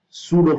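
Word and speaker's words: pseudo: Okay, centrifugal force को हमने real force नहीं माना है, इसको हमने माना है सूडो फोर्स। सूडो फोर्स, यहाँ पे P जो है ना वो साइलेंट है।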